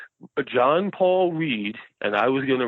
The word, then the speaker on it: Ried: My last name is Ried. Mm-hmm. I before E, except after C. So it's German, and in German you always pronounce the second vowel. So hence why Stein is Stein and Reed is Reed.